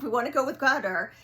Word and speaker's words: Qatar: I always said Qatar. The proper pronunciation But we're now is learning the proper pronunciation is gutter.